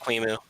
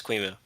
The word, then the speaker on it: QEMU: It's pronounced QEMU. Yeah. QEMU. Is it really? Is that how you're Yeah. is that how you're supposed to pronounce it? The official short pronunciation is QEMU.